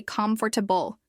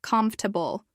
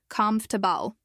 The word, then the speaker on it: comfortable: Many people want to say comfortable with 4 syllables. But in natural speech, it often sounds more like comfortable with only 3 syllables. The stress is on the first one, comf.